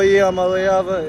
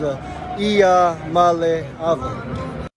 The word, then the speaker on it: Iamaleava: I'm Nico Iamaleava, and the correct way to pronounce my last name is Iamaleava. Iamaleava. Nico Iamaleava. Not too deep. Real easy. Phonetic spelling or phonetic pronunciation.